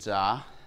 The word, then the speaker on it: Jsa: name is uh zah that's how you pronounce uh JSA it's j that there